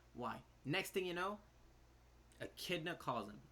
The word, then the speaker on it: Echidna: next thing you know echidna calls them i'm still going to say ekidana because that's how they say it in japanese says once again you